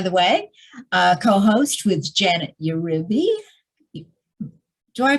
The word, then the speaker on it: Uribe: by the way, co-host with Janet Uribe. Do I pronounce that correctly? Well, I feel like in Latin culture, they would say Uribe, but I have a mixed culture feeling towards all things because I'm multicultural.